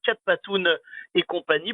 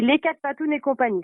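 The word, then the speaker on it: Les 4 Pattounes et compagnie: est présidente de l'association Cat Patoun et compagnie. Bonjour Emeline. Bonjour. Alors on prononce bien comme ça, Cat Patoun et compagnie, c'est bien ça? Alors, c'est les quatre patounes et compagnie, c'est ça.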